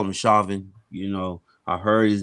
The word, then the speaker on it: Chauvin: so now the former officer i call him chauvin you know i heard his name pronounced shaven but that's just too close to shay no